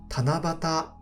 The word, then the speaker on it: 七夕: これは七夕と読みます。